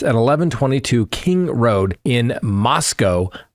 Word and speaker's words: Moscow: So, so photographs from the interior of the residence at 11:22 King Road in Moscow, Idaho, rhymes with Costco, where four University of Idaho students were fatally stabbed, have been disclosed to the public for the first time.